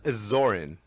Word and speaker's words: Tzorin: Tzorin. And it's spelled T-Z-O-R-I-N. If Yeah, you want to go check him out. The T silent.